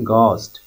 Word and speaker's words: ghost: लेकिन यहाँ पर GH में जो H है ये साइलेंट रहेगा, इसको आपको पढ़ना है घोस्ट.